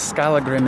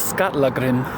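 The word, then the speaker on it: Skallagrím: And what I always thought was Skalagrim is Skatlagrim. That was kind of cool.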